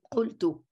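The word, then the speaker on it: qultu: Arabic, you say "qaltu, qaltu." Now "qaltu" is very similar. You keep the "qa" in the beginning, the consonant, you still pronounce it like in literary Arabic, and also the suffix too.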